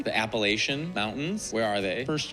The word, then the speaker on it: Appalachian: Making it worse, in that Appalachian Facts video, I go into great depth about the different ways Appalachia is pronounced and how everyone thinks the way they say Appalachia is the right way.